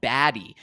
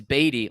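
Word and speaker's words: Badie: from last year saying oh yeah my name's pronounced uh uh batty because some people were calling him baddy and he was like no it's batty well no now he changed it to Beday which is very interesting um you know some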